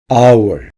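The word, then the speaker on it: hour: 땅 지구 땅 시간 our 시간 아워에서 맨 앞에 h를 발음되지 않습니다 캠페인 캠페인 활동 캠페인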